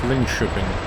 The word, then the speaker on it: Linköping: The K in Swedish is pronounced sh, followed by an E-Y-O-I, so it's Linköping.